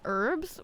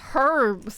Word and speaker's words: herbs: Emma says, why do Americans not pronounce the H in herbs? Why would you say it herbs? That sounds stupid. It's herbs.